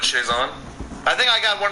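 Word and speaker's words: Chiasson: So, but Chazon, okay. That's the way you do it, Chazon.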